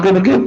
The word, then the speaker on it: क्लीं: की मात्रा और बिंदी, उसका उच्चारण होगा क्लींग गा की ध्वनि निकलेगी पीछे। आप अंग बोलो, यहां स्ट्रोक लगता है, अंग बोलो।